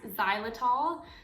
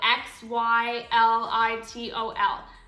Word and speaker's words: xylitol: good for and that's i think it's a silent x xylitol so x y l i t o l xylitol i feel like